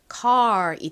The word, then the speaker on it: car: 뒤에 arn R 소리 난다고 말씀드렸죠 읽어 보면 car이 됩니다 car 뭐 car 이렇게 발음이 되죠 한국식으로는이 단어 어떻게 쓸까요 R이 리을